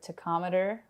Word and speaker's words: tachometer: We need to have our tachometer working. Okay. Am I pronouncing it wrong? Tachometer? No, that's fine. Tachometer's fine. Tachometer.